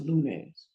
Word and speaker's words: lunes: Here's another word. It ends in an S. It's the first rule. So that means the stress is right here. L-U. Lunes.